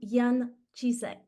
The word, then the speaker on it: Jan Cisek: It's Alexandra Berthold, and on behalf of the Feng Shui Society, today I'm going to interview Jan Cisek, and I hope I'm pronouncing the name correctly.